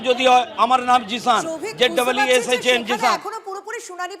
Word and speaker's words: Zeeshan: যে প্রোনাউন্সিয়েশন যদি হয়, আমার নাম জিসান, ZEESHAN জিসান।